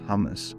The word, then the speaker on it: hummus: Another letter is Ha, pronounced as a sharp exhale from the throat. Example, and you guys will love this one, is hummus. Hummus. So please stop saying hummus. It's not pronounced hummus, it's hummus.